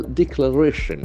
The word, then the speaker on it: declaration: again underground declaration declaration that Excel force on the third syllable declaration okay declaration beautiful declaration